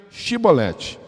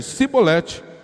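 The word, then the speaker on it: shibboleth: respondesse que não diziam Então diga chibolete se ele dissesse sibolete se não conseguisse pronunciar a palavra corretamente preenchia prendiam no e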